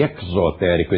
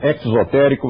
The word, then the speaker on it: exotérico: hermético é o secreto e exotérico esse ex nos remete ao exterior Então sempre que eu pronunciar exotérico Você já sabe o deose não se enganou ele quer pronunciar assim então este é o